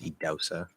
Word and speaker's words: Idahosa: I agree with, I don't know if you've heard of Idausa Ness. I've mentioned him several times. His name is spelled Idahosa, but it's pronounced Idausa, and last name Ness.